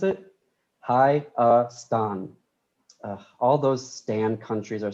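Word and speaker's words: Հայաստան: How do you pronounce it? HAYASTAN.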